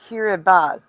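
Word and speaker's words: Kiribati: Bob's Nightmare says Kirbat Kiraabati is pronounced Kirabas.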